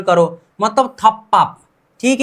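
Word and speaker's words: 덮밥: अगर फ और ब और ब भी मिल जाए तो भी प उच्चारण करो, मतलब थप्पाप, ठीक है।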